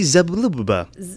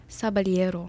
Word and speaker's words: Zaballero: Say it with the accent again. Zaballero. Zaballero. Zaballero. Oh my goodness, you are uncultured. Zaballero.